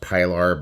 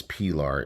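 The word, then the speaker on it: Pilar: uh I don't know you might be thinking it's pronounced pylar but as far as I know it's perar is the is the name and it's got this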